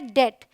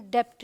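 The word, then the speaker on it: debt: है ये है प्लमर अब देखिए टी से पहले आए तो भी साइलेंट है ये है डेट ये है डाउट ये है सटल इसे हम सबटल नहीं पढ़ते इसे हम डाउट नहीं पढ़ते इसे हम डेप्ट नहीं पढ़ते बड़ा ही इंपॉर्टेंट था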